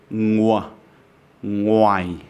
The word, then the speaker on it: ngoài: So here, you don't pronounce the O as a A, but as a W, ngwa, ngoài.